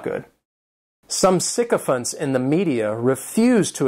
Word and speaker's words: sycophant: The next noun is sycophant, and this noun has three syllables, and the stress is on that first syllable.